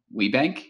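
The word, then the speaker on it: WBENC: certified Women's Business Enterprise I think the acronyms pronounced we bank is that correct that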